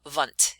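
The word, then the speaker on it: Wundt: that would be wilhelm vunt if you want to pronounce it in the german way so this is when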